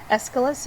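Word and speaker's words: Aeschylus: Plato Plato taught Aristotle escalus you say it like an escalator escalus was a great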